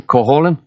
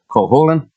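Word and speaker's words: Cúchulainn: cool cool cool holland say it after me coholin i'll tell you the story when you say the name right coholin i say it right and he tells me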